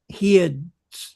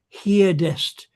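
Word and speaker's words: heard'st: You'll notice it as you're saying it because you suddenly find you've done heardst. You've heard You've sung You've You've heard heardest and you suddenly find you've got an extra syllable at the end of the line you're speaking and it screws up the pentameter.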